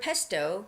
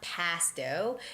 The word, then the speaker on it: pesto: So the word pesto could be very unfamiliar to some people. That's how you read it. It's pesto with a short vowel, not pasto. It's pesto with a short E vowel sound.